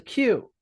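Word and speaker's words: queue: Now, British English, they use Q. That's called a Q. Q U E U E Q. Crazy spelling because it looks like Q U, but it's Q.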